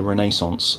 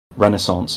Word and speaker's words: Renaissance: topic this week is the Renaissance or Renaissance if you're American depends um yeah depends how you want to pronounce it if I'm honest with